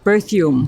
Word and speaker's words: Berthiaume: um and her name her last name is pronounced birro berthume berthume like bir okay yeah not ber that's